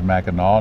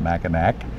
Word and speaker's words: Mackinac: spend today today on Mackinac Island I did for one thing learn the pronunciation of the word is Mackinac not Mac and act it's a French spelling which is kept for